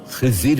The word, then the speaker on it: খিজির: এই খাদির শব্দটিকে সহজ উচ্চারণে বাংলায় খিজির বলা হয়।